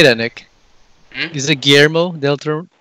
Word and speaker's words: Guillermo del Toro: Is it Guillermo del Toro? Yeah, because there's two L's, it's Guillermo. Guillermo. But if you're Filipino, it's Guillermo.